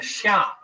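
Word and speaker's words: Xia: uh in Chinese history which is called the Sha uh that's spelled x a in the in the modern Western romanization system the pinion system of of spelling Chinese words the Sha the Sha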